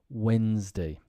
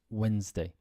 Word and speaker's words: Wednesday: does get dropped sometimes Wednesday difficult to pronounce just but just Wednesday whistle yes the tea is dropped and castle the tea